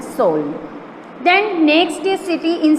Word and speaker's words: Seoul: उसका स्पेलिंग है SEOUL, सोल.